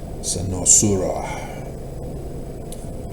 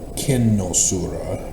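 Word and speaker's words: Cynosura: Senosura Greek is a little bit different pronunciation. It's technically kinosura rather than senosura.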